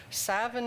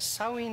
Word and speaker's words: Samhain: It's spelled Samhain, and Dr. Google says it's pronounced Samhain in Ireland, Savin in Scotland, and Samhain in Wales. So since my heritage is Welsh, I'll call it Samhain.